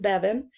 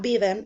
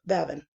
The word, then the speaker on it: Bevan: know and this is my last name Bevan it's spelled like heaven but with a BS and boy and it is also pronounced like that so it's not be them it's Bevan so here's a class